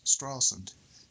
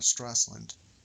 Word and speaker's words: Stralsund: move on to Stralsund, Actually, I've been pronouncing it wrong. It's Stralsund, not Stralsund. The S is after the L, not before the L.